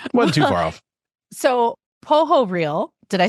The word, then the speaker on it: Pohorylle: So my initial reaction was, Pohorylle. Pohorylle. It's like a crocodile. Exactly. I like it. Okay. Wasn't too far off. So Pohorylle, did I say that right?